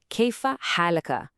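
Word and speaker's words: كيف حالكَ: So to a man, you ask, kaifa halaka. Hear that ka at the end? And to a woman, it's kaifa halaki with that ki sound.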